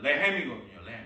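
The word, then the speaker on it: לחם: 그래서 대한성소공회 그 민영진 총무님 그 목사님이 이스라엘에 유학을 갔을 때 상점에 가서 빵을 달라고 해야 되는데 이 빵이 이제 히브리어로 엘 발음이 나는 레헴이거든요. 레헴.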